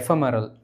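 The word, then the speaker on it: ephemeral: நம்ம radio கேட்போம்ல எஃப்எம். எஃப்எம் கூட அரல் அப்படிங்கிற வார்த்தை போட்டிங்கன்னா இந்த ப்ரொனன்சியேஷன் வந்துடும். ஓகே, எஃப்எம்ஆர்எல் இப்படி தான் சொல்லணும்.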